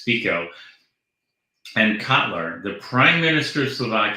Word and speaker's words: Fico: FICO sorry I I I've listen the pronunciation it's I want to make it a long eye but it's FICO and Cotler the prime